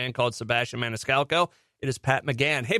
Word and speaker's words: Maniscalco: so but um yeah Sebastian Maniscalco that's how you say it and it is a